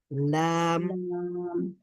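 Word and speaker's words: ل: হয় তখন আমরা উচ্চারণ করতে পারি তারপরে লাম উচ্চারণ করার সময় জিহ্বার অগ্রভাগ ব্যবহৃত হয় জিহ্বার অগ্রভাগ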